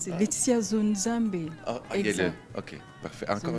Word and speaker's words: Zonzambe: Est-ce que je prononce votre nom correctement, madame? Oui, c'est correct. C'est Laetitia Zonzambe.